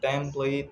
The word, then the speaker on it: template: For instance, in template, we stress the first syllable, and in utensil, we stress the middle syllables.